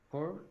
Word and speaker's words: poor: The pronunciation of this word, Poor? usually when we have double O, the pronunciation is U, poor.